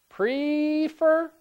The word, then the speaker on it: prefer: Prefer or prefer? Prefer, prefer. I like prefer. Stress on the second syllable.